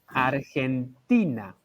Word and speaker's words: Argentina: sounds different as well it's a lot stronger in in spanish i think argentina so